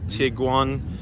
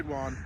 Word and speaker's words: Tiguan: This is the Volkswagen Tiguan.